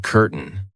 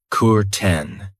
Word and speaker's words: curtain: Be careful of the pronunciation. I know it looks like curtain, but we pronounce it curtain.